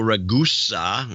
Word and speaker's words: Ragusa: Michael Ragusa in Tustin, California. His name is pronounced like Vegas.